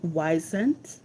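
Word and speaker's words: Wyzant: So the platforms that can be used to find tutoring jobs are platforms like Weisent and Varsity Tutors. So Weisent is spelled W Y Z A N T and Varsity Tutors.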